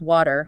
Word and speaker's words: water: Uh, water very commonly becomes water. Water.